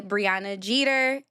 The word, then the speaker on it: Breona Jeter: Briana Jeter. Briana Jeter. My name is spelled B R E O N A J E T E R.